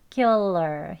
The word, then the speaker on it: circular: 이 K, 크 소리의 된소리인 쌍기역 발음으로 circular이 아니고 circular. 약간 끄 하는 소리로 발음해 주시는 게 원어민들의 더 자연스러운 발음이에요.